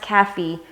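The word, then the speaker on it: Kafie: know if it's I'm assuming it's pronounced Cathy and it's again it's ka f ie so I've heard of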